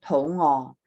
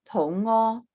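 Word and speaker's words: 肚餓: your ngo is going to be your 6th low tone, tou ngo, right? And ngo ho tou ngo, I'm hungry. But if you mispronounce it, the tones, and you say that tou is your tou, your 5th tone, low rising tou, and you use the 1st tone, ngo, tou ngo, that means diarrhea.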